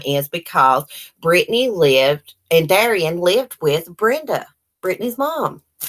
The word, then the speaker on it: Derion: When Brittany came out with these allegations that Derion, I finally figured out how to pronounce his name. It's Derion.